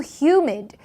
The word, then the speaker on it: humid: 더워, hot, 그리고 humid. 저희가 이 습도가 있는 이라고 하죠. hue의 강세가 들어가서 humid라고 발음하시면 됩니다.